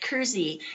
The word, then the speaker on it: Kersey: say Kersey is pronounced Kersey as though it had a Z in it originally it was called